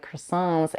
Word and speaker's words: croissant: end of the word this means that you put the tip of your tongue in the position for the T which is behind the upper teeth but you don't release the air c c let me